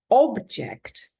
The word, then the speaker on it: object: And then it's object. Now that's a noun, and the stress is on the first syllable, and it's a thing that you can see or touch.